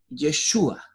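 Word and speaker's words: ישוע: La palabra Jesús, el nombre Jesús, es una transliteración del hebreo al castellano, que quiere decir y se pronuncia como Yeshua.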